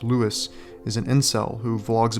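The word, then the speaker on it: Louis: is now an aspiring model and Louie now pronounced Lewis is an incel who Vlogs about his many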